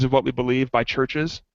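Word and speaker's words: Chvrches: What We Believe by Churches I think it's how you say it it's churches spelled with the yeah weires yeah virches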